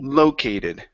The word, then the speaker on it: located: The stress is at the very beginning instead of located. It's Okay, located.